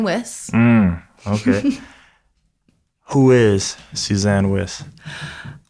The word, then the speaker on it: Wyss: Oh man, I've been saying it wrong already. Like I thought it was like Weiss. People have called me Wyss my whole life, but it's actually Suzanne Wyss.